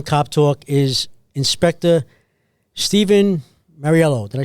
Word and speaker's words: Mauriello: So today's guest on Cop Talk is Inspector Steven Mauriello.